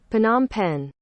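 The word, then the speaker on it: Phnom Penh: Cambodia I knew that now how the hell do I pronounce it PanAm pen oh I gotta think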